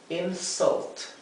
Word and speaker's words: insult: Insult. Otra vez la U se pronuncia entre una A y una E.